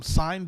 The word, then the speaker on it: sine: It's they call them sine basses, SINE, right?